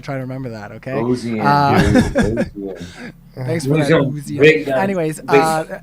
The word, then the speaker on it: Ozien: Ozien. Okay. Sure. Like ozone. Like ozone. I got to try to remember that, okay? Ozien, Thanks for that, Ozien.